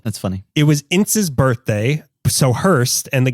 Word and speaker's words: Ince: Is it Ince? Pronounced Ince?